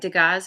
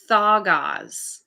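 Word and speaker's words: Dagaz: This is pronounced, it looks like Degas. It's Thagaz. All right, Thagaz.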